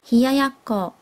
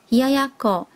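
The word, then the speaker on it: 冷奴: 冷奴，日文是念作冷ややこ，冷ややこ。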